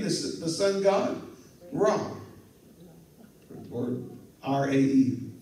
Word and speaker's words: Ra: Or R-A-E. I think it's pronounced Ra, but it looks like Ray.